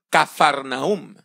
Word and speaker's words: Capernaúm: galilea que se llamaba capernaúm también se puede pronunciar como cafarnaúm y usted puede ir